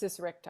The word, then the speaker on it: diastasis recti: Is that what's how you pronounce it? diastasis recti.